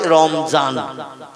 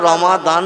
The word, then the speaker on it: রমাদান: ওরা দোয়াতকে, যেমন রমজান আরবি ভাষায় লেখা, ওরা বলে রমজান, বলে না?